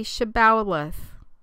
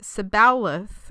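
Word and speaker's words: Shibboleth: said no Then they said to him say shbalth if he said sebalth and could not pronounce the word correctly they grabbed him and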